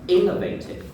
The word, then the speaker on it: innovative: This is also a very good example that you know you have to put the stress in the right place. So it's innovative.